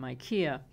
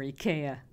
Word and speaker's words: IKEA: beechwood cutting board from IKEA, or IKEA. How do you say it? IKEA? IKEA. When I lived in France, everyone said IKEA. And I think here in the United States we say IKEA, right?